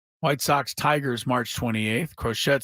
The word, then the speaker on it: Crochet: they don't uh Garrett crochette you know who that is Garett crochet yeah I didn't know who that was it's spelled like crochet but I don't think it's pronounced that way okay who's that crochette